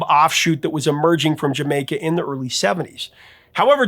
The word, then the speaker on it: D'yer Mak'er: The title is meant to be pronounced as Jamaica, which is saying Jamaica with a Cockney accent, is what they said.